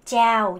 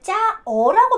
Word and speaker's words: chào: 여러분이 저한테 인사할 때 짜오 요 단어 쓰죠. 요거. 여러분이 절대 짜어라고 발음하지 않죠.